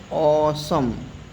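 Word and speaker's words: awesome: Means बहुत बढ़िया तो इसमें ओसम ये डब्ल्यू ई साइलेंट रहता है।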